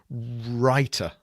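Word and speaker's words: Rytr: cop copywriting app uh R1 y t writer writer that's exactly how it's it's pronounced R ytr and it's rt.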